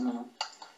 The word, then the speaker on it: Myo: Et donc, les prochains prototypes seront plus évolués puisqu'on a acheté notamment un bracelet Mio.